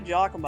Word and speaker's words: Giacomo: It's actually Giacomo.